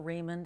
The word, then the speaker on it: Raymonde: that also works uh Raymond is like the American pronunciation so what is your